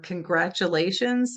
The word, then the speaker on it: congratulations: Um or congratulations sounds a lot like a ch or picture sounds a lot like ch.